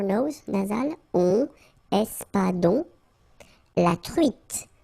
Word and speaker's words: truite: nasal, on, espadon, la truite, same thing here, final E not pronounced, t, la truite, le